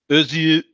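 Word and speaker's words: Özge: Okay, so that's a Turkish name. And it's pronounced sort of Özü Sementi.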